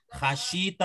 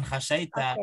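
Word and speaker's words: خَشِيتَ: Khasyita bukan khasyaita, khasyita. Oh, ha ya. Bukan kha, syinnya itu kasrah wazannya fa'ila, dia khasyia.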